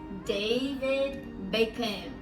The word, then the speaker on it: David Beckham: It's David Beckham. We don't pronounce that H sound.